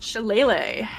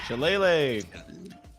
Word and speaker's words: Shillelagh: How do you pronounce that cantrip? Shillelagh. Shillelagh.